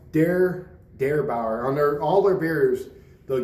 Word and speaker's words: Der Bauer: in the beer for this one yeah so pronounced dare dare Bauer under all their beers they'll give you like